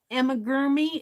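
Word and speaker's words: amigurumi: here's a toy elephant little Emma gurmy is how you pronounce that Emma germi I haven't gotten into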